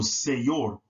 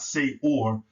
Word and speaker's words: seyor: So it's seyor, say, and then yor, not say or, seyor, right?